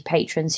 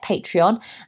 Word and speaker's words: Patreon: my first of all I couldn't pronounce it so I was like patreon patron patron it was ridiculous very embarrassing but now I can say patreon and I started out